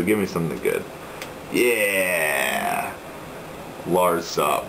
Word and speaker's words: Lazav: Larzov. How do you say his name? Larzov? Larziv? Lazav. Lazav.